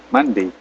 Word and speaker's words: Monday: Kemudian untuk Monday bacanya itu kalau kita mandi, nah, kita mandi itu Senin.